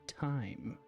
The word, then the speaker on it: thyme: it does and and although it does look like thyme when you write it down I I will grant you it is pronounced time in the comment tongue and it's very confusing